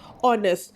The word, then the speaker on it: honest: Kerana dia punya H ini silent. Apa maksud H ini silent? H dia silent kerana kamu tak payah pronounce. Kamu tak payah sebut H dia. Kamu cuma cakap, kamu bukan cakap our, kamu cakap our. Our itu jam kan? Kamu bukan cakap honest, kamu cakap honest.